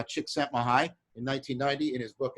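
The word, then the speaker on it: Csikszentmihalyi: was made famous by chicks at my height that's how you pronounce that series of letters uh chick sent my high in 1990 in his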